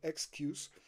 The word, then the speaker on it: SKUx: porque es es un son siglas no esq sería la forma más rápida de decirlo Excuse como excusa no incorpore pagos inteligentes